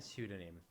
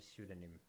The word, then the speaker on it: pseudonym: Pneumatic and pseudonym. Okay, what letter is not pronounced? Psychologist, pneumonia, pneumatic, and pseudonym.